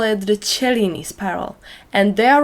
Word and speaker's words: Cellini: if you are wondering why it's called a seline spiral actually some people call it the cellini spiral and they are right that's how it